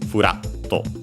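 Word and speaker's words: ふらっと: Okay, the accent is on the ra. So it makes sense for this kind as this kind of adverbs, onomatopoeias, as they are before the double consonant to usually, but before the to, and so of course not on the doubling of the consonant because it can't stay there, as it's about the accent stays on the syllable as a whole, and so on the ra, furatto, furatto.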